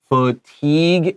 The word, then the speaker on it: fatigue: Fatigue is a tricky word with weird spelling. Pay attention. F is a short U. We have an A. Teague sounds like a long E with a G, but we have G-U-E. This is a French word, and French and English spelling is really different. So please practice this word and pay attention.